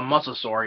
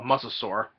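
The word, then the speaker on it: mosasaur: prehistoric monster which is called a musur you know I believe it's spelled m s o and sore you know muscle sore which which I say oh really that's a that's a that's a muscle sore huh okay cool you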